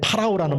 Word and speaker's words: 파라오: 썼을 때 그 바로는 그 우리는 바로라 얘기하지만 영어 발음에는 파라오는 말을 써요 파라오 파라오가 그냥 우리는